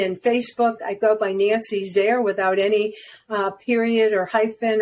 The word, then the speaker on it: Nancy: Very easy, because LinkedIn and Facebook, I go by Nancy Zare without any period or hyphen or you know, it's just Nancy Zare. Zare rhymes with care.